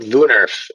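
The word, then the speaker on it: woonerf: time you're thinking about lunarf is is a term that typically refers to the style of street design and that's w-o-o-n-e-r-f we're pronounced with a v at the beginning and then in terms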